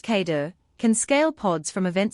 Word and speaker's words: KEDA: KEDA, pronounced Kater, can scale pods from event sources.